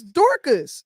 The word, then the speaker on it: Dorcas: and again can somebody you say her name was Dorcas it's Dorcas you saying Doras oh okay look look you her her name is Dorcas you know she had